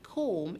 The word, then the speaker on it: comb: word comb and so we say that the b in the word comb is a silent letter so now what do